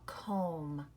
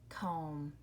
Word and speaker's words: comb: sound like lamb or comb you're right it's the M be very good the last letter and that one is silent you do not hear the B lamb comb and then this one's